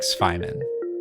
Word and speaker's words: Cwejman: To that point, I found the Cwejman Res-4. I believe the correct pronunciation is more like Cwejman.